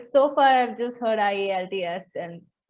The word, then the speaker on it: IELTS: Oh yeah, Sorry, it is IELTS phonetically. It never occurred to me to say it as a word. This is the first time I heard it.